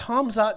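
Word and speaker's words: Khamzat: an estimate on when you'll start pronouncing hazmat's name right or at least get the order of the m and z right please it's never going to happen bro right i don't know yeah it's hamza maya why do they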